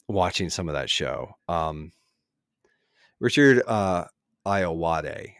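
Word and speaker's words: Richard Ayoade: Richard Iowade is how you say his name, Oh, is yeah, a yeah, yeah.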